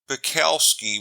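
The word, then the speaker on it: Zbikowski: cover are as follows tom buckowski with a silent g was a safety and played with the baltimore ravens and the indianapolis colts from 2008 to 2012.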